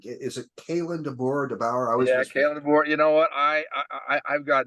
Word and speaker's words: Kalen DeBoer: I always mispronounce his last name. Is it Kalen DeBoer? Kalen DeBoer.